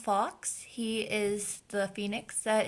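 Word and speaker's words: Fawkes: but just in case I believe he's pronounced Fox he is the Phoenix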